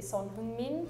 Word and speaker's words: Son Heung-min: In Korea, you say Sonheung-min. Japan, we say Song Heung-min. Yeah, it was pretty close, but I think other countries tend to pronounce Heung as like Hu or Hyu.